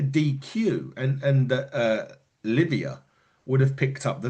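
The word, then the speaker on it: Liviyah: Livia. Get it right. It's like Olivia. But it's not spelled that way. It's spelled L I V I Y AJ.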